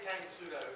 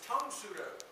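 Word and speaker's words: Tang Soo Do: And a lot of people say Tang Sudo. You hear it all the time. It's Tong Sudo.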